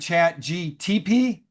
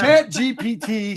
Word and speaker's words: ChatGPT: I must admit, I had been saying my new friend's name wrong. I was going with Chat GTP, like STP or OPP. Yeah, you know me. But Oh, yeah. Chat GPT stands for Chat Generated